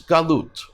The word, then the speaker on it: galut: Another is galut, or in Yiddish, galus. Galut or galus, your choice of pronunciation, means exile.